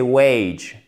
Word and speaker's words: wage: Donc, revenu, c'est wage et pas wage. Non, wage. D'accord? Il y a vraiment cette diphtongue.